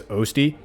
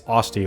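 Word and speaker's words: Osty: By the way, I was always pronouncing this Osti, because I think Osti sounds better. But then my brain was like, no, idiot, it's Osti, like osteo, like bone.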